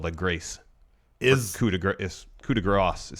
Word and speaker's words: coup de grâce: and I think the latter is correct because coup de Gras would be GA g ra s s yeah whereas it's not spelled that way i spelled that grace is coup de grâce coup de Grasse is spelled like that as